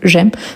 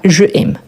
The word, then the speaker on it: j'aime: Donc, on a je plus aime qui devient j'aime parce qu'on a une élision. De même que quand on prononce seulement un mot. J'aime et pas je aime.